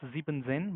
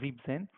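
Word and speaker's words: siebzehn: as you see here 17 it was not Z and Zen but it was Z Zen however when you WR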